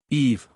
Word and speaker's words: Eve: Eve, both syllables being pronounced, is the same word